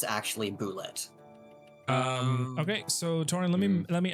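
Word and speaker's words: Bulette: The creature is actually pronounced as a boulet, which is funny because it's not supposed to be pronounced like that because it's based upon the French spelling.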